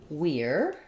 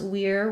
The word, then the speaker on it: we're: we're not there and when we have we are uh becomes we're which sounds has the ear diphthong so I'll rewrite it like this we're but even further we're becomes more of a were sound so it's like the